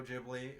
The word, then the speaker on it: Ghibli: We went to Studio Ghibli. We went to Studio Ghibli when we went to Japan. Yes, pronounce it Ghibli.